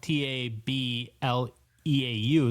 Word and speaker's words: Tableau: I haven't seen the spelling of Tableau, but the software is spelled T A B L E A U. So very kind of a French sort of tableau.